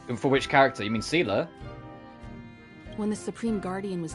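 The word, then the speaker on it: Seele: In the game they pronounce it Sealer, so that's how I've been pronouncing it. You're most welcome. They don't say Have some Seal, they rest. say Sealer. It's Sealer and Bronya.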